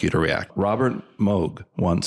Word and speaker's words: Moog: culture or uh the Moog synthesizer or to a lot of other people the moo but it's actually Moog CU a lot of people just say it wrong cuz I used to